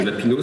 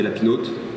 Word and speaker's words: Lapinot: Parce que Lapino, si on le prononce autrement, ça fait Lapinote. Ce qui n'est pas très élégant.